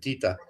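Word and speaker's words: Tete: I like to call him Teat. That's because actually in German we would pronounce it Tita, his name. Tita. Although it looks like feet for us in English or American.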